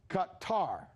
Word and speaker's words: Qatar: the correct pronunciation is qatar qatar as in whatever he's making it more complicated than it is just guitar that's it my man